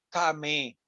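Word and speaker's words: טמא: tuma, o traducido o se pronuncia como la ley del Tamé, ¿verdad?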